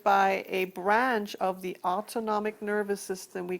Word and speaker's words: autonomic: called the autonomic nervous system not automatic but autonomic and it has two